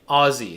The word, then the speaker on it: Aussie: you i don't know aussie here say ozzy sorry man i thought it was i thought the s's were pronounced in that way i didn't know ozzy okay alex i hit